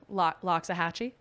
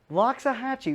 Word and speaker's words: Loxahatchee: this place is hard to pronounce can you pronounce it loxahatchee loxahatchee very good i'm impressed a lot of golf